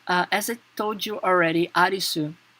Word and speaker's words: Arisu: Is that as I told you already, Arisu is his last name. However, here they are playing how it is the way the Japanese people pronounce the English name Alice, right?